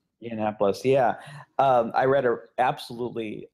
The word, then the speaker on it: Yiannopoulos: Milo, any of you guys pronounce his last name? Yiannopoulos, yeah.